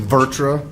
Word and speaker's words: VirTra: And that was in partnership with Virtra. I heard from, is that how you say it? I can't say that. I've tried to say it. Virtra?